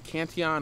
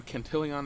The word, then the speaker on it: Cantillon: on economic theory by Richard uh Canon or cantillon it depends on uh who you ask I've heard his last name pronounced different ways but this essay was